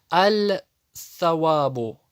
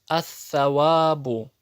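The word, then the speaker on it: الصواب: Многие допускают ошибку и читают аль-савабу. Это ошибка. Почему ты лям произносишь? Там нету сукуна. А читается она ас-савабу, ад-дину, ан-насу.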